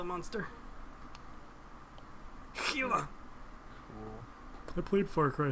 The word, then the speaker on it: Gila: Gila. Cool. I played Far Cry 3, alright? That's how they pronounced it. Not like you can't English. Come on, man. First of all, it's not an English name.